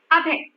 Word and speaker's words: Abhay: We have Abhay. Okay, Abhay. Abhay. Abhay. Is being stressed. Abhay. Abhay. Abhay. Right? 2 syllables. Abhay. But the stress is on Abhay. Stress is on a.